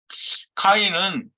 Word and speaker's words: 카인: 가인을 제가 이제 카인이라고 이렇게 얘기를 쓰는데요. 다 발음도 카인이죠, 사실은. 카인은 아담아를 경작하는 자요.